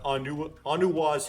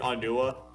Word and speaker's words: Onua: You have found Onuwa's hammer. Now I'm pronouncing it Onua. It's Onuwa. There's a difference.